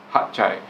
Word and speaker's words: Hat Yai: Hat Chai or Hat Yai, Hatyai, however you want to pronounce it. Some people pronounce it as Hat Yai, but the locals there pronounce it as Hat Chai.